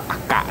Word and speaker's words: AKA: ทาง อากะ นะ ออ สรุป เขา อ่าน ว่า อกะ นะ ผม ก็ ไป อ่าน ว่า อขา ตลอด เวลา เลย นะ อ เดี๋ยว